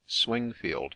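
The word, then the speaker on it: Swingfield: Knights Templar situate near swinfield swink field or as it is now generally spelled and pronounced swing field Menace a rough tract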